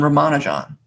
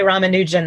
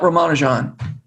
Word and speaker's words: Ramanujan: So some people say Ramanujan. That's the British pronunciation, but it's actually possible for us to say it correctly because it's 4 unstressed syllables, the way the Tamil people say it.